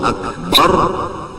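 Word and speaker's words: أكبر: Kalau Allahu Akbar bujur-bujur, jangan membaca A menjadi Ain, Akbar dibaca Ain, seperti Allahu Akbar.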